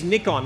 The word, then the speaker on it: Nikon: privilege to represent Nikon yes it is Nick on no matter what where I go in the world I mean Nick on was created in Japan and they pronounced it Nick on so sing with us in Australia I'm gonna stick to my guns and it's Nick on because you guys will